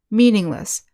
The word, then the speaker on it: meaningless: have the suffix less even though less is spelled l-e-s-s it's pronounced list meaningless endless thankless next we